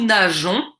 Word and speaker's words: nageons: l on nage nous nageons donc ici j'ai ajouté un e s est pour également la prononciation car je veux nous nageons et non pas nous